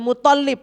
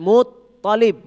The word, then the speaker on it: Muthalib: tapi Aminah ingat misalkan kakeknya nabi tadi bukan Abdul Muthalib tapi Muthalib jadi dari awal sudah